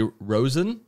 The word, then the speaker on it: Roizen: So everybody listening, we have, and let me know if I pronounce this correctly, Roizen?